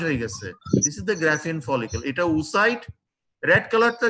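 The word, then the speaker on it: Graafian follicle: Follicle also, what the pronunciation? Graphian follicle.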